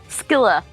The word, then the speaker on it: Scylla: Scylla? Am I pronouncing that right? Skilla.